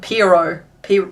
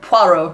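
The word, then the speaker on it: Pierrot: is Bubbles Mr fine I keep getting told it's pronounced like proo pero pero not poo like we were talking about last week Humpty and Mr doing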